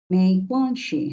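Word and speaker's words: 没关系: বললে বলে মেই কোয়ানশি এটা হচ্ছে 2 নাম্বার টোন, সো উচ্চারণ হবে মেই। হ্যাঁ, তার মেই হ্যাঁ, কোয়ান হচ্ছে 1 নাম্বার টোন। কোয়ান, কোয়ান একবারে ফ্ল্যাট ভাবে যাবে। কোয়ান। তারপরে কি আছে? শিটা হচ্ছে নিউট্রাল টোন, সো ধরেই ছেড়ে দিবেন। মেই কোয়ান শি। এই যে দেখেন, শিটা আমি কিন্তু খুবই তাড়াতাড়ি বলতেছি।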